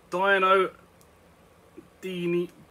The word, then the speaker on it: Dino Dini: sank a bit more unique moving on to dino dini dino dini's soccer can that's how you pronounce it someone decided to make a football